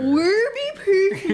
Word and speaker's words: Warby Parker: Warby Parker.